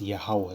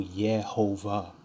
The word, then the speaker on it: Yahawah: It's Yahawah. There ain't no Yehovah. Where is the V? That's a Wah.